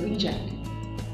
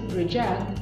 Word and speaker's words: reject: because it is a reject when you pronounce it reject it becomes a verb that means to turn down something or someone like in